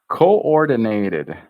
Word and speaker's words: coordinated: coordinated it two o's it looks like two o's coord Den dinated we push into that nend twice con ordinated I have to think through this word here it's coordinated there we go fixed fixed